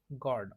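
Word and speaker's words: gourd: पुन्हा श गड आता जी ओ यू आर डी असा जो शब्द आहे त्याचं प्रोनन्सिएशन आपण गॉड करतो गॉड जी ओ डी च गॉड जसं करतो का तसच त्याचं प्रोनन्सिएशन आहे की गॉड ऍ गॉड आता ए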